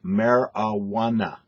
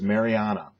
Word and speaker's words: marijuana: were talking about uh it is pronounced marijuana marijuana uh you re referred to it multiple times as Mariana Mariana m-a-r-y-a-h-n-a-h Mariana Mariana can't do that it'll confuse the Dickens